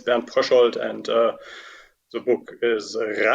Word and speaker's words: Pröschold: and your introduction was quite fine regarding the pronunciation of my name it's been prashold and uh the book is so it's about